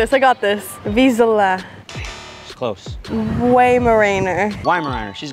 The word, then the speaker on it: Vizsla: Vizsla. You gotta get this one right. She's right there, right? I got this. Vizsla.